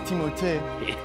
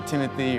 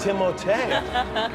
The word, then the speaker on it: Timothée: Well, honestly, it's Timothée, but I would not oblige you to say it like that. And it could be Timothy or Timmy or Doug. It's Alan. Timothée.